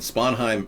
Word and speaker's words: Sponheim: And Sponheim rhymes with Anaheim, which is Disneyland.